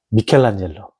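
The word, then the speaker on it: Michelangelo: 제가 괜히 그 잘치고 발음을 굴려서 미국 사람들 발음으로 얘기하는 마젤로 로 바른 거면 어 미켈란젤로 워나 로띠 미켈란젤로 그다음에 세 번째 음악의 마이클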